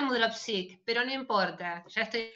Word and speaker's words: Mudrovcic: Sí, no, me pronunciaste, es decir, se pronuncia Mudropsik, pero no importa, ya estoy acostumbrada.